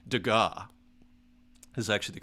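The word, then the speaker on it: Degas: one stroke like that like a dega right dega is actually the correct pronunciation uh it's a little different so it's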